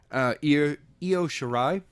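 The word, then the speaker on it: Io Shirai: card is uh and I'm still gonna pronounce her name wrong ear yo sure I versus Tony storm actually think he said correctly oh sweet yeah I'm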